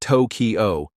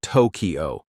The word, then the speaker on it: Tokyo: the correct intonation like in Tokyo it's not Toyo but Tokyo it's all about making the